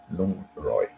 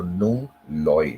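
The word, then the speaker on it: หนึ่งร้อย: I started like 100 is Nung Roy, or they don't pronounce the R, they say it like an L. So Nung Loy, they will say Nung Loy. Nung means one, so they will say Nung Loy, but actually the thing is Nung Roy.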